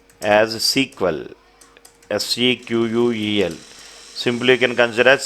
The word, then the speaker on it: SQL: SQL can pronounced as SQL. SEQUEL.